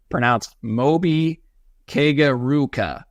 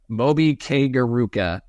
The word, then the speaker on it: Chimobi Ikegwuruka: All right, it's pronounced Chimobi Ikegwuruka. Chimobi Ikegwuruka.